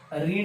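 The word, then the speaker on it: read: कोणत्या व्हर्बचं, तर रीड या व्हर्बचं मला घ्यायचं आहे पीपी, रीड रेड रेड. फक्त उच्चार बदल असेल, स्पेलिंग सेमच राहणार आहे.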